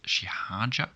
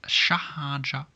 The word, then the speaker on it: xi ħaġa: Sa zait shihaja. Shihaja, sometimes pronounced shahaja, but we write shihaja.